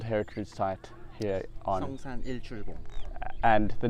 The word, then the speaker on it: Seongsan Ilchulbong: this UNESCO World Heritage site here on Seongsan Ilchulbong. And the name of it is, how do we pronounce it? Song. Song? Sun? Ilchulbong.